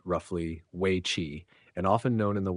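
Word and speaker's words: weiqi: each civilization China's most enduring game is Wei pronounced roughly we chi and often known in the west by A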